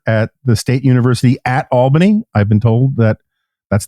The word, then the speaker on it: Albany: he's a professor at the State University at Albany I've been told that that's the correct way